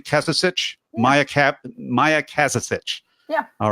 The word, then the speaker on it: Kazazic: have right is your bio here, and it's Kazazic. Am I saying it correctly? Kazazic? Yeah. Maja Kazazic.